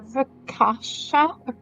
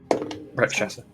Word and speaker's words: Rakshasa: Have you ever heard of I might pronounce this wrong, a Rakasha? Rakash. Rakshasa.